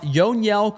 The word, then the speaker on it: Yoniel: Uh, Yonell Yonell Caret is how you pronounce his name.